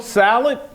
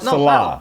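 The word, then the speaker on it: Saleh: Would you call the Jets coach Salad? Salad. You call the Jets coach Salad or No. Robert Salah?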